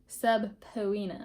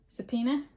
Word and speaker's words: subpoena: of law enforcement oversight subina Authority I think that's actually pronounced subpoena Suba okay now subor